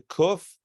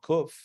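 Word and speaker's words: קוף: carrying a cane remember cuff makes the curse sound hence the name cuff uh uh well the letters don't necessarily have have names although koof in Hebrew yes correct yes yes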